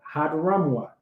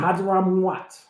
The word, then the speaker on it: Hadramaut: in the region of Hadramaut. Hey, that's how we pronounce it right now, brother. Keep reading. Hadramaut.